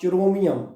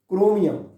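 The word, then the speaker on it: chromium: ऐसा ही आपका this is नॉट चिरोमियम, इट इज क्रोमियम, और क्रोमियम है ऑन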